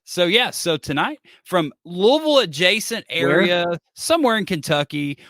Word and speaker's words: Louisville: Louisville, Louisville. It's Louisville. Like up, many Aaron. people say, like you have to say it like you have marbles in your mouth, but you know that because you're from there.